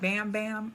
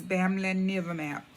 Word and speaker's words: Bamlanivimab: call it bam bam i did do some research and i heard that some people call it bam bam but i just wanted to get a little bit familiar with the correct pronunciation of it which is family never map and uh what it